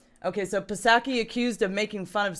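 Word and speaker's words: Psaki: Pasaki?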